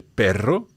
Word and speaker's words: perro: And you'll notice lots of R2s in particular in this one. El perro, that's a 2.